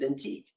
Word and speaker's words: Vintique: And that rhymes with Vintique.